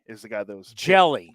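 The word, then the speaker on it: Hjelle: clear my mind sean jelly is the guy that was jelly jelly yeah as in jellyfish it's spelled h-j-e-l-l-e but it's pronounced jelly he is uh 6 11 228 baseball references so 611.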